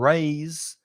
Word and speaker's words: raise: rice and not rise also the vowel sound is different rise has the i sound like my or high rise and raise is a like day or say so the vowel sounds